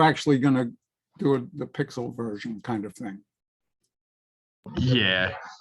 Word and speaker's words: Piskel: good for animating quick pixel art. It's called like let me get the name of it. It's PISKEL. I think it's supposed to be pronounced like pixel.